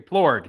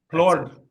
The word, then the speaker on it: Plourde: and today we have a special guest, Plourde. Is that the right way to pronounce it? Is it a French? Very close. There you Plourde, yes. Plourde.